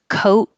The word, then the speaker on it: coat: we practice these together coat with a t that you won't hear and code with a